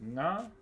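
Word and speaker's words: ngā: this word that says na so it's n g a na and uh The way Tuhoy pronounces is it pronounces that word. It's na. So the G has been dropped.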